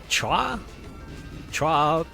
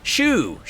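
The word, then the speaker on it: choux: How do you pronounce that? Chua pastry? I had to look that up. I can't say no to a good sweet pastry. Shoe, okay, thanks.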